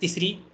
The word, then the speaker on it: तिसृ: तिसरू अँड in south I have seen तिसरू this R the three different प्रोनाउन्सिएशन generally they take the Maharashtra प्रोनाउंसिएशन एस the Maharashtra प्रोनाउन्सिएशन एस the authentic प्रोनाउंसिएशन but about दिस रु